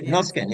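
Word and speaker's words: Norrsken House: um I think it's the noskin house am I saying it correctly Prof yeah noskin yeah yes um it was a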